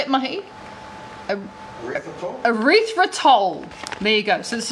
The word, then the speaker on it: erythritol: Erythritol.